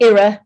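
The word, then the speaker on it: IRA: the inflation reduction act or era which is how we pronounce it we don't say it the other way in the UK because it makes everybody duck um and then of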